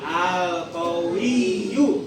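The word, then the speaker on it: القوي: Ada ya-nya ada dua, Y-nya ada dua. Berarti dibacanya qowiyu qwiu. Ayo. 1 2 3. Alqawiyu. Ikutin Bapak ya. Habis Bapak bacanya. 1 2 3 alqawiyu 1 2 3 alqawiyu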